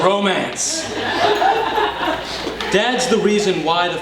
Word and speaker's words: romance: He's the one responsible for bringing the very French word romance to Maine, pronounced by the French, less romance.